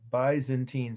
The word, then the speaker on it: Byzantine: t i n e by zen teen some people pronounce it that way but uh everyone else i know and that's the byzantine who were they well